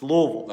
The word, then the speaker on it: Louisville: It's Louisville. Okay, I just want to make sure, because that's how I pronounce it.